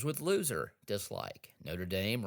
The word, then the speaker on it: Notre Dame: Notre Dame rhymes with lame, dislike.